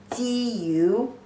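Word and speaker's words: 九: Pronunciation is jiu jiu, the third tone.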